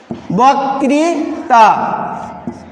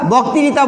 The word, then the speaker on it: বক্তৃতা: এরকম আরও শব্দ, বক্তৃতা। আমরা বক্তৃতা বলি, কিন্তু হবে বক, কারণ এখানে রিকার আছে। তাহলে উচ্চারণ হবে কি বক্তৃতা।